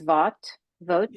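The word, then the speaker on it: Vought: time, on immigration, and Russ, I think it's pronounced Vogt.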